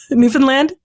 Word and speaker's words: Newfoundland: By the way, did I pronounce that right? Newfoundland?